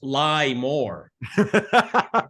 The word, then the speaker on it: LIBOR: As a friend of mine put LIBOR, he said we're pronouncing it wrong. It's lie more.